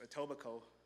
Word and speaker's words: Etobicoke: Adobe book it's actually an in English it's Etobicoke so it's a very it's very close to the original pronunciation so that's how you can acknowledge this